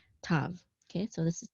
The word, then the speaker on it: tav: And anciently, when the tav did not have the dot in it, you would pronounce it as a th sound. Th, thou was actually how you'd pronounce that in ancient Hebrew. But in modern Hebrew, with or without the dagesh, you're just going to say t, tav.